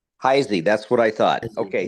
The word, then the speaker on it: Heise: Heis, how do you pronounce it? Uh, Heisy. Heisy.